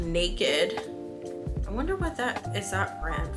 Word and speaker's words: NA-KD: Okay, Naked is Swedish. So, and it's spelled NA-KD.